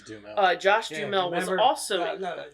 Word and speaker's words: Duhamel: Is it Duhamel? Dumel? Dumel. I think it's Dumel.